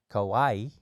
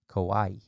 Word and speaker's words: kawaii: this is dedicated to all things cute or Kawaii yes so cute oh my God and randomly